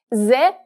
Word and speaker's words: З: Z always makes a Z sound, and despite how it looks, it sounds exactly like the English Z.